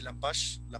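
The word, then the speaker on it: Lepage: Por ejemplo, en el postdramático, Romeo Castellucci, John Jesurum, el famoso, que es muy famoso, Robert Lampash, que se dice Lampash, que no se pronuncia, que es canadiense, y su grupo Ex Machina.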